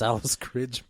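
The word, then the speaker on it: Alice Krige: Alex Cridge or Alice Cridge. I don't know how you say her name. It's Alice Cridge.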